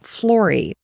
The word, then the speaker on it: Flori: In 2017, Lori formalized a business, and she named her studio Flori, and it rhymes with Lori, and I love that.